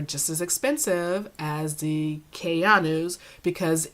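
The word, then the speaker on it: Kayano: I have to say it like that because I want to say the gel Keanu, like Keanu Reeves, but it's Keanu. So I have to emphasize the Ayanu to make sure I say it right.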